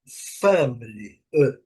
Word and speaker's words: family: Eles é family family. Family, certo? Com a letra A, né? Family e a letra I y bem pronunciada aqui ao final. A sílaba forte aqui, family. Podemos até dizer que se a gente tirar esse esse esse i e o som do i aqui não faria muita falta não. Fabric.